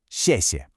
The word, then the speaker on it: 谢谢: It's pronounced 谢谢. It's got this quick, falling tone.